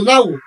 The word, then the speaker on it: know: কে উচ্চারণ হবে না, কারণ কেটা তখন সাইলেন্ট হয়ে যায়। যেমন KN ডাবল ই, নি, KNOW, নাও, KNOT, নট, KNIFE, knife.